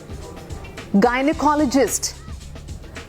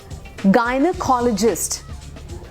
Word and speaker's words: gynecologist: Gynecologist. Gynac बोलते हैं कई लोग. Okay, that's like the short form, but that's how you say this. Gynecologist.